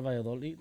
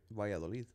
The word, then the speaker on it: Valladolid: I think now they play Real Valladolid.